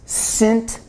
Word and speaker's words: Sint: The Dutch, Northern Europe, freezing their off, and their name was, they pronounced St. Nicholas, Sint, S-I-N-T, Niklaus, N-I-K-L-A-A-S.